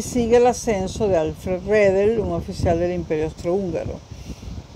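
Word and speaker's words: Redl: Pues si ustedes lo quieren pronunciar bien, le agregan la E al pronunciarlo, no al escribirlo, ¿no? El coronel Redel.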